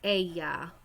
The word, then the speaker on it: ella: Ella. Ella. Remember, ella. Double L's are pronounced kind of like a Y.